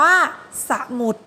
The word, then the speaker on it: สมุด: แรก ตัว อย่าง แรก นะ สมุด อ่าน ว่า สมุด คัน ที่ 2 ขนุน อ่าน ว่า ขนุน คำ